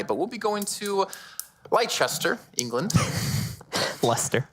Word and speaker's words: Leicester: Leicester. It's L-E-I. Yeah, it doesn't like make sense. But it sounds like L-E-S.